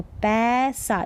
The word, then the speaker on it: पैसा: ये जैसे पै, ए का उच्चारण तो पैसा, इसको पैसा नहीं पढ़ेंगे, ए का साउंड आना चाहिए ए की मात्रा के लिए, तो पैसा, पैसा।